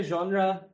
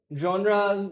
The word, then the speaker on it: genre: जो लफ्ज है जॉनरा स्पेलिंग में तो जेनरे लगता है या जेनेर लगता है मगर इसको यहां हां या तो लोग यॉन्रा बोलते हैं या यन्रा बोलते हैं या यन बोलते हैं कुछ लोग लिटरली यॉर्न बोलते हैं यॉन ठीक है ना